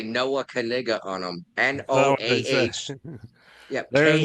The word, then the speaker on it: Knigga: He's jumping on this name of his, and he's selling hats that say Noah Knigga on them. NOAH. Yeah. There's no KNI. KNIGGA. Yeah. And the K is silent.